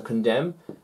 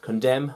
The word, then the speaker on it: condemn: bomb it's got a silent letter in it silent letter no arguments bomb okay yeah so condemn move the n sounds the same but it's